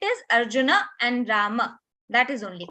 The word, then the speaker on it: Arjuna: bad but you mentioned Arjuna Arjun is a mistake and it is popular from Hindi language in Hindi language we